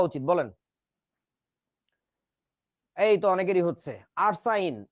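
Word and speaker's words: arsine: ব্যাটা এইডারে কয় ফসফিন তার তো এটারে আরসিন কওয়া উচিত ছিল কিন্তু সেটারে আরসিন বলে না সে বলে হচ্ছে আরসাইন মানে আমাদের দেশের বইতে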